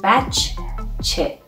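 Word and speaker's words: بچه: We have two of letter che. Bach, che.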